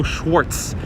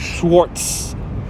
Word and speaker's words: Schwarz: I always pronounce it FAO Schwarz." Yeah, a lot of people do pronounce it Schwarz, but there is no T in there.